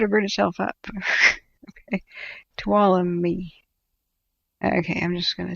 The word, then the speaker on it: Tuolumne: Say it like Cindy. Tuolumne, like Cindy. Tuolumne.